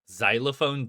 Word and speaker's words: xylophone: Xylophone doesn't start with a Z sound.